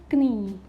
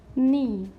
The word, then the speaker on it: knee: Third is knee. Not knee. This is knee.